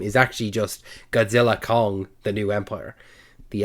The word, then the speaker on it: Godzilla x Kong: about this now apparently the X you don't pronounce the X apparently the name is actually just Godzilla Kong the new Empire the